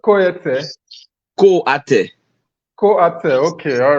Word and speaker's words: Koate: Apparently, that's the part of my name that people can't pronounce. It's actually Koate. Koete. Koate.